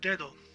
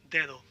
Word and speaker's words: dedo: Now, the word dedo, you see that one D is highlighted, it's thick, because the D in the middle of the word, you want to pronounce it a little bit different.